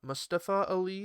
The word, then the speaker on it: Mustafa Ali: commentary and he said it too uh mustafa mustafa ali is apparently how it's supposed to be pronounced i'm just finding out so well i've